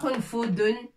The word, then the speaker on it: قنفذ: Qon. Fudun. Ouais, on l'écrit avec point. C'est pas qonfudun. Parfois on entend qonfud. J'ai trouvé qonfud. Non, c'est qonfudun. Qonfudun.